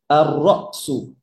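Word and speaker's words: الرأس: আর রসু। ওই যেমন আর রজুলু হয়েছিল, এই যে র ডিরেক্ট আসবে, লাম উচ্চারণ হবে না।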